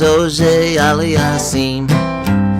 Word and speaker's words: Auger-Aliassime: Some folks know Nadal and Federer, big tennis fans they may seem, but a bona fide fan of tennis knows Felix Auger-Aliassime.